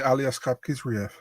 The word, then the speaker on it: Aliaskhab Khizriev: I say Aliaskhab Khizriev. Okay, so I had it right. Okay, good. Thank God. I think if you have the K and the H, you have to say, you know, Aliaskhab Khizriev.